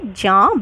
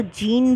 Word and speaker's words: Jean: इसको इंग्लिश में प्रोनाउंस कीजिएगा तो जीन ब्लॉन्डेल, लेकिन ये एक फ्रेंच थिंकर थे इसलिए जीन नहीं, इसको प्रोनाउंस किया जाता है जॉन, JEAN, जॉन।